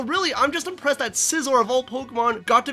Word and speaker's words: Scizor: of pointless Boesel it's scizor the Pokemon whose name can often be mispronounced as scissor as an ass thing